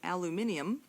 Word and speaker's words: aluminium: Aluminium, by the way, is the preferred name in uh or name and pronunciation in British Commonwealth English. It's the same thing as aluminum in American English.